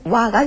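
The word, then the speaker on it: は: 와 김산 데스네 했습니다 와라는 것은 오늘입니다 오늘은에 해당하는 거죠와는 하라고 쓰지만 발음은 와가 된다는 것이죠 김산 강가 김을 환영하는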